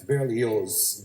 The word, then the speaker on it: Berlioz: french composer hector berlioz that's barely yours the z is pronounced he called it something